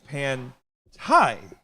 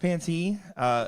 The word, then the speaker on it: Pantai: We did get a comment in here saying it's pronounced Panty. It is not. We asked her. It is Pantai.